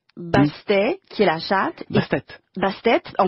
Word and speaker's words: Bastet: Bastet, on prononce Bastet, d'accord?